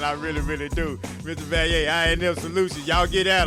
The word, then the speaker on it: Vallier: Mispronounce. No, it's okay, man. It's okay. It's Vallier.